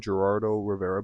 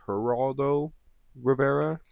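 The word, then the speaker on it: Geraldo: Um, he called him out by name in the song, Gerardo Rivera, but I think he mispronounced it on purpose as Heraldo Rivera. Um, maybe more of like a disrespectful tone onto it.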